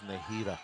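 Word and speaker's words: Nazira: the sport it's interesting her name is spelled n a z i r a and then it's actually pronounced as nahira n round one and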